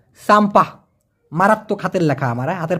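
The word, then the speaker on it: sampah: এস এম পি হে উচ্চারণটা হবে স আকার ম প আকার হ। সাম্পা মারাত্মক হাতের লেখা আমার হাতের পর একটা বাড়ি দেন।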